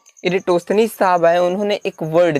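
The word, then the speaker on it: Eratosthenes: इरेटोस्थनीस। इनके नाम का प्रोनाउंसिएशन कुछ अलग अलग है, तो इस पर कंफ्यूज ना होइएगा, क्योंकि अलग अलग बुकों में अलग अलग प्रोनाउंसिएशन दिए गए हैं। तो इरेटोस्थनीस साहब आए, उन्होंने एक वर्ड दिया, क्या?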